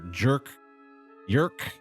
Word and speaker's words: Jerk: so 15 years later jerk jerk how do you pronounce j r k if it's a Scandinavian name I think we call him jerk jerk jerk Gustaf son is the